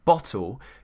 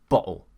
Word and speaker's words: bottle: Now we do have something in British English called the glottal T, which is when, for example, a word like bottle could become bottle.